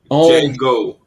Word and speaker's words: Django: Okay, I enjoyed the Django too. It's not. The D is silent. What? The D is silent. It's What's James, silent? The D. In The D what? Django.